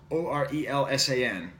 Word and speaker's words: Orelsan: The best album of last year, at least in terms of French hip-hop, was by a guy named Orelsan, O-R-E-L-S-A-N. Orelsan, if you're pronouncing it in English.